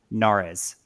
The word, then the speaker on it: Nares: to accomplish at Hagen Nares? I'm saying it wrong. Kaitlin, I'm saying it wrong. Is it Nares? Am I saying it right? Nares? Yeah, Nares right or Nares? You got it right on.